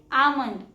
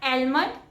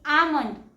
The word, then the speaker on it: almond: And the correct pronunciation is almond. It's not almond, it's almond. L is silent here.